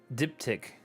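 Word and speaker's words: diptych: never even heard of that word before so dip tick so that's how you pronounce it a painting especially an alterpiece on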